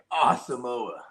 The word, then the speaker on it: Asamoah: It's pronounced Asamoah too, by the way. Asamoah.